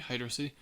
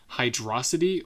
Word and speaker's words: Hydrocity: online with Sonic about whether you pronounce h yd r o c t i or sorry H yr H yd r o c i t y hydrosity or Hydro City I mean cuz clearly